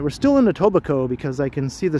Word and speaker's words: Etobicoke: Well, it's not pronounced Etobicoke, so probably not. It's more like Etobicoke. But I have heard some people pronounce it as Etobicoke.